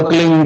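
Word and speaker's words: क्लीं: की मात्रा और बिंदी, उसका उच्चारण होगा क्लीन गाय। गाय की ध्वनि निकलेगी पीछे।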